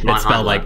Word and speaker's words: Manhandla: I think it is Manhandla. It's like Manhandla or something. Yeah, it is. Manhandla. It's spelled like Manhandler, essentially.